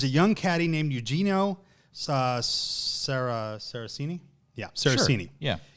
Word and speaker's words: Sarazen: So in New York, there was a young caddy named Eugenio Saracini. Yeah, Saracini. Sure. Yeah. Eugenio Saraceni is how I believe it's pronounced.